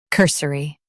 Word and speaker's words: cursory: Emphasize cur and keep s quick. Cur, s, ri, cursory.